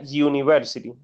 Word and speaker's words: university: porque por ejemplo esta, a pesar de que empiece con la letra U, cuando la pronunciamos, pues no suena como tal la letra U, sino suena la letra Y, ¿verdad?